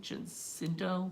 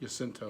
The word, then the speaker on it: Jacinto: Jacinto? Jacinto. Jacinto. I Right. can't. Sorry, I'm not Spanish. I don't pronounce these names pretty well. Yeah, pronounce your J's as if they were Y's.